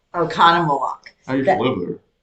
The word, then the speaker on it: Oconomowoc: Oconomowoc. Oconomowoc. I used to live there. I know you did. Huh. Yeah. But it's pronounced Oconomowoc.